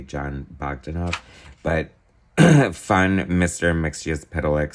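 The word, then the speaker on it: Mxyzptlk: fun Mr mixia's pedalex story um or mix uplick however you want to pronounce it I'm going based on John Burns um written pronunciation mix yes pedal lick it's like you kind of pronounce every single letter interesting art you definitely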